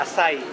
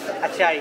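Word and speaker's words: açaí: आया नहीं था तो यहाँ के पता चला असाई I used to read it as achai.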